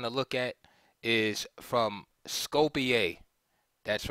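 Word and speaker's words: Skopje: game we're going to look at is from Scopia that's right I did pronounce it correctly thank you that spelled s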